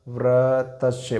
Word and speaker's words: व्रतस्य: ठीक, अब देखिएगा, इसका उच्चारण करके देखिएगा। व्रतस्य क्या हो जाएगा? व्रतस्य। बताओ र की आवाज़ कहाँ आ रही है? त से पहले।